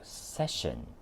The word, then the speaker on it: session: 呢個字係讀 session。